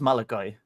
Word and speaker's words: Malachi: I think he says Malachi Malachi okay cool I heard someone say Malaki on a stream one I always say Maliki too but yeah yeah it looks like that's how it should be pronounced B on the spell